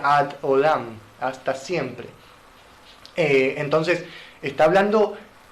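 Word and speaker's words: עד עולם: Hasta siempre es una expresión hebrea que se pronuncia ad olam, hasta siempre.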